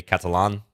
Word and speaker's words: Catalan: jordan van for east why do i say catalin i guess that's the way um most people i've heard pronounce that opening but maybe catalan is a bit more accurate you know i'm american so the way we say our a's sometimes is probably going to seem uh incorrect or flat out is